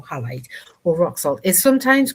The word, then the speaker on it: halite: The mineral form halite or rock salt I think it's pronounced halite h a l i d or highlight or rock salt is